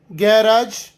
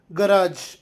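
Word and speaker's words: garage: ಅಂದ್ರೆ ಜ ಉಚ್ಚಾರ ಕೊಡುತ್ತದೆ ಜಿಎ ಆರ್ ಎ G E British pronunciation ಗ್ಯಾರಾಜ್ American ಪ್ರಿನನ್ಸಿಯೇಷನ್ ಗರಾಜ್ ನಿಮಗೆ ನನ್ನ ಟೀಚಿಂಗ್ ಮತ್ತು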